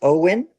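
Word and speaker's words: OWYN: How do you pronounce that? Owen.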